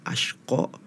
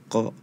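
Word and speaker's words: الأشقى: di surah alala ya yang seharusnya tadi dibacanya asyqo tapi tadi dibacanya kok ini salah penyebutan huruf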